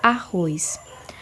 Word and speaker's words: arroz: Por exemplo, vou fazer com a palavra arroz. Arroz. Quando eu chamo a palavra arroz, é possível perceber que a última sílaba, o ROS, Z na verdade, ela tem maior força e maior intensidade.